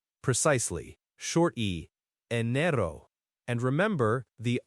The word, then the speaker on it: enero: In Spanish, it's enero.